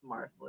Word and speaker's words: Marsley: Yeah, we want to add all extra shit, and I love how you're just like it rhymes with parsley. It's Marsley. Yeah, I'm word.